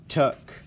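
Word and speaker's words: Tuch: Tuck.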